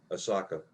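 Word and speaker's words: Ahsoka: How do you pronounce her name? Osaka. Like some Japanese, like the Japanese city, Osaka.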